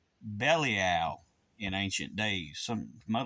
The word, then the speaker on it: Belial: it's pronounced two separate ways uh some people pronounce it belile but but it was actually pronounced bellal in ancient days some a lot of people